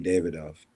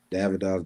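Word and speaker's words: Davidoff: that it would it would have to be David off davidov David off however you want to pronounce it I say tomato tomato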